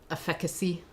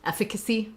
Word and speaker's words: efficacy: levels like just their efficacy efficacy there we um I put the the stress in the wrong syllable there at first but um that that's